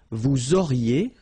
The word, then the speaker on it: vous auriez: Vous auriez, liaison here, and then EZ will go like E.